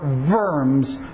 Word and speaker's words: Worms: what the diet of worms is. Diet comes from the German to assemble, and worms is the location, the city that it happened in. I believe it would be pronounced more verms than worms.